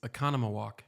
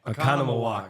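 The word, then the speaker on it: Oconomowoc: still are have a hard so- time with Aquanamico, however you say it. Makana. Akmawanika, yeah, whatever. No. It's Economawalk. Economawalk, that's it.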